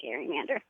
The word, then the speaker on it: gerrymander: Well, I've decided to take it back and start saying Gary-mander. Yeah, you are going to say Gary.